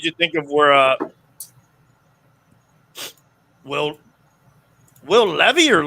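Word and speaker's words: Levis: What did you think of where Will Levy or Levi's? How do you pronounce this kid's name?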